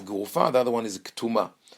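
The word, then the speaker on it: קטומה: So this one level is gufa, the other one is ktuma. Ktuma with kuf and tet, ketuma in the correct pronunciation.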